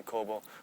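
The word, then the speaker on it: Kōbō: so that was kobo i'm not sure how you pronounce in chinese but we say kobo kobo fujio so you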